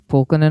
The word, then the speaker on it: Pulkkinen: I think it's Pulkkinen or something like that.